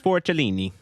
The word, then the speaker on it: Forcellini: 34th minute, and Aaron Leak is noting, I am not putting the proper Italian pronunciation of Forcellini, because that's how you say it. It is Forcellini.